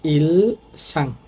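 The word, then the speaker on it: 일상: উচ্চারণ হবে ইলসাং।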